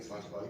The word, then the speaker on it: Sláinte: So there's a great phrase in the Celtic nation, Sláinte. Can you say that? Sláinte.